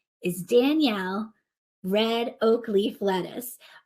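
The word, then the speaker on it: Danyelle: because its name is Danielle red oak leaf lettuce but it's spelled like Danielle yells and that's also very appropriate so it's d-a-n-y-e-l-l-e not like my name but sounds like my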